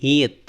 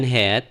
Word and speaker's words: heat: Tapi kalau T kayak gini, dia tulis T ini berarti heat gitu ya. Heat. Lihat ini ya kayak kayak ini ya. Apa sih padanannya dalam bahasa Indonesia tuh? Bacanya bukan head gitu, tapi heat.